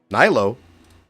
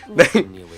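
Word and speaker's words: Nilou: Nilo? Oh, it's Nilu.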